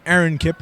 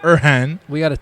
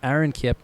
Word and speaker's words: Aaron Kipp: His name is Aaron Kipp, not Erhan. We gotta talk to Terry about that. Yeah. It's not Irfan, it's Aaron Kipp, who was huge in last week's win for them.